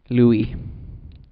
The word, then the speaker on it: Louis: Louis. Because it rhymes with gooey.